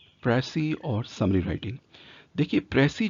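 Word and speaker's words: précis: अगर हम देखें नीचे डेफिनेशन लिखी है कि अ प्रसी इट is pronounce S प्रेसी इज a highly concise accurate summary of a long text और स्पीच।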